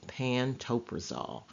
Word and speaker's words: pantoprazole: generic name for Protonix is pantoprazole it is pronounced pantoprazole and pantoprazole is in the class of drugs